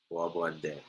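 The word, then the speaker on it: Bois Bandé: Bois Bande.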